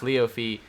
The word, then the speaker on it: Leofee: By the way, it's Leofee, just how you pronounce the IE in your name.